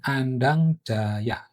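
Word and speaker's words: Andangdjaja: Sementara kalau C aja itu dibacanya Y ya. Sehingga ini Andang Jaya.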